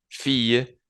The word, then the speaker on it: fille: se dieron cuenta eh yo pronuncié igual de la misma manera pronuncié a garson cuando lo pronuncié en singular y a garson cuando lo pronuncié en plural a pesar de que tiene esa s lo mismo pasa con fille fille fille Le agregué la s abajo pero yo no cambié la pronunciación y lo mismo con